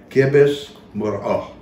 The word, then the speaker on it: Khibz Muhrough: And so the old time pronunciation for this in the mountains, they don't use it very much anymore, would be Khibz Muhrough. Khibz Muhrough, which means flatbread.